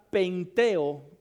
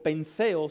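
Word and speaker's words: πενθέω: Aquí la palabra para llorar, anote esta palabra porque también es importante, es la palabra penteo, con TH o penseo, se pronunciaría penseo o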